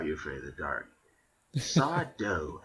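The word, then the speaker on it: Sardo: Saw Doe, accent on the O.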